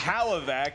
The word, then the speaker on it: Hlavac: Adam can't even pronounce his last name properly. It's Hlavac.